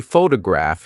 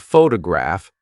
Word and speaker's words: photograph: For example, if you say photograph instead of photograph, the listener may be confused.